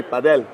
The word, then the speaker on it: padel: Where we got padel from was when we hear the Spanish say paddle with an accent. Ah. They say padel. They're saying it incorrectly is what you're saying. They say it right with their accent. But we're as American like, "Oh, padel." Yes. No, it's still paddle. Yeah. But the Spanish and people with accents are padel. So, if you say padel, it's okay.